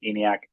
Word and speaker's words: ENIAC: So I guess I mispronounced the name of your firm. I said Eniac.